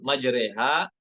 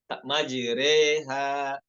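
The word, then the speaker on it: مَجْرٰىهَا: Kemudian pada kata majreha itu dibacanya dengan satu wajah aja. Yaitu dengan imalah. Majreha.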